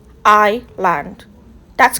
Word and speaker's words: island: Number two, it's island. So the S is silent in this word. So you don't say is land, you say island. Say it with me. Island. That's correct.